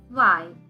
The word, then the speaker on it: zwei: In the previous lesson, we saw that Z is pronounced as S in Deutsch. So, 2 is zwei.